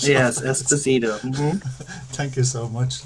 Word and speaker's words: Esposito: Is that how you pronounce it? Yes, Esposito.